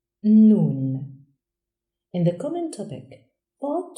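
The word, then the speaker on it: نون: The 25th letter is pronounced Nun and is written from right to left. Nun has one dot above. Nun, like in Nun.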